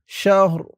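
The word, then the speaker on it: شهر: দুই জেরঋন শাহর শাহর অকফ করার কারণে উচ্চারণটা এমন হয়ে যাবে শাহর খাইরুম মিন আলফিশাহ লাইলাতুল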